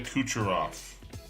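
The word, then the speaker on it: Kucherov: put your off Nikita kucharov laser shots Nikita kucharov that is how you say it took me a second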